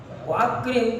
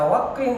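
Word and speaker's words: وأكرم: Jadi kalau akrim ditambah wawu menjadi wa'akrim. Jadi bukan dibaca wakrim, bukan.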